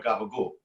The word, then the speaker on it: capicola: and so you know you might say capicola but in Sicily they shortened it to chemical or gabagool and it's not Sicilian